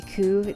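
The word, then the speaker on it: 九: 9 can also be ku. That's true, ku or kyu, depending on the pronunciation of how you do it or whatever.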